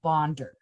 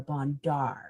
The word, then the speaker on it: Bondar: It's Roberta Bondar, not Roberta Bondar as everyone Bondar, okay.